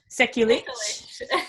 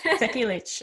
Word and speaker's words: Sekulic: Every time you see that word last name ending with the IC, always know it's an itch. Itch? Sekulic. Sekulic.